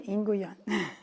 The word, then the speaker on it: Nguyen: So Tim, and I apologize, I mispronounced your last name wrong when I started. So it's Tim Nguyen.